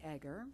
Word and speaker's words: Egger: Eager. Thank you, Mr. Chairman. Thank you, Mr. Molina. Ms. Eager, good morning. Hello. It's Egger. Many people mispronounce that, so don't feel bad.